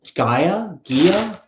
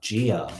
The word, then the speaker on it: Gia: Oh, Gaia? Miss Gaia? Am I saying it right? Gia? Messages for Gia here. Gia? Does Joseph want to commit to Gia? Does Joseph want to commit to Gia? One more. Oh, Gia. Okay, Gia. Yeah, I keep hearing no.